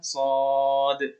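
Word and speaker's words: ص: Nah, itu cara bacanya adalah Shad.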